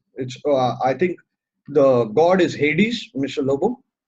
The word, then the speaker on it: Hades: I think the god is Hades, Mr. Lobo. Hades, yeah, right, sir. Hades, yes, Okay, we correct. pronounce it Yeah, as Hades.